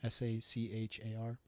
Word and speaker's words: Sachar: wrote holes huh Louis Sachar I think that's how it's pronounced but it's Louis the normal way and then si si har Louie